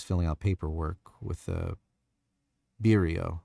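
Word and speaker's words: Biro: He's filling out paperwork with the Birio, I think is how they pronounce it. By Bro, bro is how they pronounce it. It's like a name of a a pen brand.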